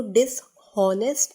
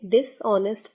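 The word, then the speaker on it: dishonest: डिसऑनेस्ट, बेईमान, इसको डिसऑनेस्ट नहीं डिसऑनेस्ट पढ़ेंगे, एच साइलेंट है।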